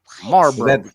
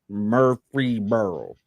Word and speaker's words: Murfreesboro: Marlboro. Is that cousin to Marlboro? No. Oh, okay. No relation. It's Marlboro's Yeah, aunt. Murfreesboro. Illegitimate son. I like that. Murfreesboro.